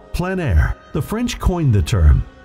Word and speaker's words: plein air: In the Plein Air Podcast, we cover the world of outdoor painting, called Plein Air. The French coined the term, which means open air or outdoors. The French pronounce it Plein Air.